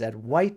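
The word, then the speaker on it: Advaita: that's what advisor means at white properly pronounced I believe is at white Vedanta it just simply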